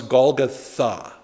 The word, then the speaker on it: Golgotha: a determinative and so instead of Huggle goth it becomes Golgotha with the article at the end weird well you've learned